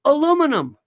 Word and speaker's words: aluminum: fascinating Stephen Lynch says aluminum or aluminium and there are two different ways to pronounce it you know that right they are completely acceptable completely same thing spelled pronounced differently if you're in the UK what I want people